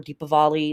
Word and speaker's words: Deepavali: Hindu friends and ancestors, we have Diwali or Deepavali. It's pronounced both ways.